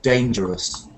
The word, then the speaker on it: dangerous: Just when you say this word, just say us at the end, because it's kind of adjective. So you just say dangerous.